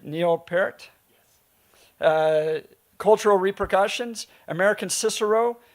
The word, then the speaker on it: Neil Peart: Am I pronouncing it right? Neil Peart?